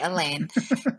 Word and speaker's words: Alain: marry this young man elain Alain elain Allen however you want to pronounce it yeah we would say Alan but it's Frenchie so we say Elaine and so right so